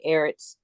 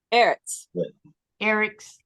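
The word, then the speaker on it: ארץ: okay I'm gonna say Eric's okay yes no pronounce Earth again okay Eric's yeah are you like this are you saying the e-r-e-t-z yes okay Eric's okay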